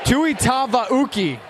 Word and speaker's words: Tuitavauki: Tuitavauki, thank you, is the pronunciation. Dieter Tuitavauki entering the game for the Cavemen.